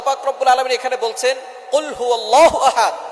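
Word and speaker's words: قُلْ هُوَ: আল্লাহ পাক রাব্বুল আলামীন এখানে বলছেন কুলহু আল্লাহু আহাদ। এখানে কফ দিয়ে পড়ছেন কিন্তু অনেকেই ভুল করে উচ্চারণ সঠিক না হওয়ার কারণে তারা পড়ে কাফ। কুলহু আল্লাহ।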